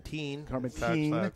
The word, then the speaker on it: Thane: Going to hit big Carson Thane, or is it Corbin Thane, I believe? Is I pronounce his name? That'd be Corbin Teen. He pronounced there.